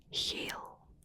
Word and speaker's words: geel: harsh, like with the language German, the G is like very harsh, whereas in Dutch it's soft. So yellow is geel, is instead of G. German geel. You see, it's very different. So geel, geel.